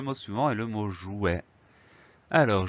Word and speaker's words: jouet: Donc, on a ce T qui permet d'avoir le son est, mais qu'on n'entend pas. Jouet, J-O-U-E-T. On fait attention à ça, E-T à la fin. Le mot jouet, c'est un nom masculin.